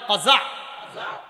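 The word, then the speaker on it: قزع: বলেন আমার সাথে সবাই, কাজা বলেন, আবার বলেন কাজা, কফ জা আইন বানানটা কাজা বলেন।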